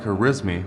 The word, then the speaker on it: Al-Khwarizmi: So, while we honor him today as Aquarismi, the original pronunciation might have been closer to something like herismi or herismi.